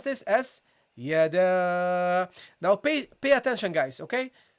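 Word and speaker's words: يدا: Okay, so you pronounce this as yada.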